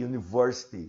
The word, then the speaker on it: university: A university, som de IU, som de Y.